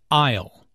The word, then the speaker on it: aisle: who does which task aisle notice the silent s in aisle an isle is an